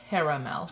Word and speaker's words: caramel: there in that box everybody says we say this wrong because Hermel it's actual caramel caramel care uh Mel this one it's caramel caramel caramel caramel the second day is silent help it's like a